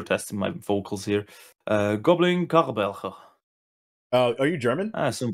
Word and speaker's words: Charbelcher: Goblin Karbelcher. Are you German? I assume that's how I say it. I am Swiss. Oh, Swiss. Okay. in America, we call it Charbelcher. Okay. I would call it Karbelcher.